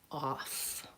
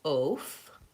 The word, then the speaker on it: off: How about the word off? Off. Again, I spell that with an O.